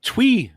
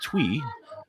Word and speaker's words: Thui: winner pronounces the name Twee Turner. He actually put in that the pronunciation is Twee, spelled Thui.